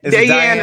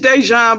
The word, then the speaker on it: Dejan: Dayan is one way of pronouncing it. Okay. Well, how we supposed to pronounce it? It's Dejan, but you can't put no accent over. You know how. Oh, gotcha. It's what? Dejan. Yeah, supposed to be an accent over the Y.